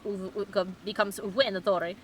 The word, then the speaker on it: Venatori: If you pronounce Venatori like a Roman would, it becomes Venatori, and it just sounds unthreatening, says Doc.